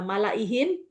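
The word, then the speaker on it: مَلَئِهِۦ: Artinya dia tidak dianggap alifnya. Jadi dibaca wa malaihi gitu. Tidak juga dibaca panjang ihi, bukan, tapi wa malaihi fastakbaru gitu. Jadi semua tulisan malaihi lanya dibaca pendek.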